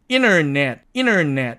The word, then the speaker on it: internet: 그래서 얘가 찌그러지고 사라지니까 이 말을 미국식으로 발음하면 internet 이렇게 발음이 되는 거죠. 그래서 이 경우도 겹친 자음 은트 중에서 이 무성음인 트가 탈락해서 인터넷이 아닌 인터넷 이렇게 발음된다는 것을 알 수가 있습니다.